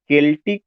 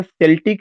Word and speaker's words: Celtic: You will come to know कि जो ये केल्टिक रिवाइवल है, इसको आपको पहली बात तो प्रोनाउंसिएशन सेल्टिक नहीं कहना है, एक केल्टिक पढ़ा जाएगा। केल्टिक, सेल्टिक नहीं, बल्कि क्या पढ़ा जाएगा, केल्टिक रिवाइवल।